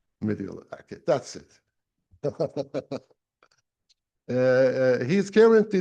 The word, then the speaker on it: Mendiola: Diego, can I hear the pronunciation? Mendiola, okay, that's it.